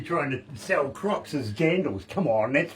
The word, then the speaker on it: jandals: And Americans are actually trying to sell crocs as jandals. Come on, that's wrong. That's a croc. Yeah, and that word is not familiar to me. What is it? Jangles? Jandals.